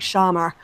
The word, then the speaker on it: Schama: I think I'm pronouncing his name right because it's Shama, but you know they do the R's at the end, so it's like Shamar when they pronounce it with a British accent.